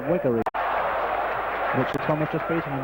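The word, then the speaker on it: Wegerle: Dixon outside well to Wegger. Beg your pardon, I believe the pronunciation is Wiggery.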